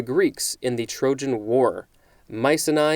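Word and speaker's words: Mycenae: century a king of mice and i i will spell that momentarily and leader of the greeks in the trojan war mice and i is probably being pronounced wrong it is m y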